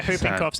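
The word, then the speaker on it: whooping cough: Yeah, hooping cough's actually not a You're thinking about flu. You're probably thinking about cough. The wh is silent.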